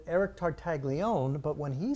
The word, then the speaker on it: Tartaglione: It's Tartaglione.